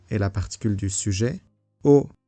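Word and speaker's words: を: O, qui se prononce o mais qui s'écrit wo, est la particule du COD.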